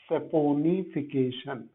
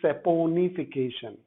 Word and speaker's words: saponification: what we call as saponification. Yes, है ना, इसको सोपोनिफिकेशन नहीं बोलना. You don't pronounce it as soap, it is saponification.